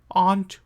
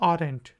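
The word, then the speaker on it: aren't: Faster form contraction को यूज़ करते हुए यू आंट माई फ्रेंड। ये गलती बहुत से लोग करते हैं कि इसको पढ़ते हैं आर एंट, लेकिन ये है आंट। आर जो है वो साइलेंट है, आंट।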